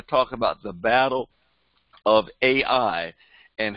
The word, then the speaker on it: Ai: And then we see Ai being destroyed, the city of Ai, and it's spelled Ai, so we call it Ai.